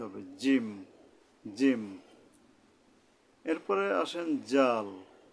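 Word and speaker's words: ذال: জিম এরপরে আসেন জাল জালের উচ্চারণটা কেমন হবে এটা নরম ভাবে হবে এখন উচ্চারণ স্থানটা কোথায় সেটা আমাদের জানা দরকার এর উচ্চারণটা হলো সামনের উপরে দুই দাঁতের আঘাত থেকে নরম ভাবে হবে জাল জাল জাল এখন যদি জাল কইয়া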